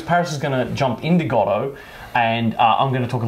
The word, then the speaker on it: Godot: you pronounce godo now we're going to be pronouncing it gotto like dot gotto not gotto like godot you can pronounce it